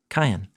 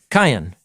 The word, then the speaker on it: Qayin: That's how you say his name in Hebrew. Cain. Cain, yeah.